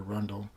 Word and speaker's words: Rundle: cassandra rondelle arundel uh most people pronounce it cassandra rundle um 37 year old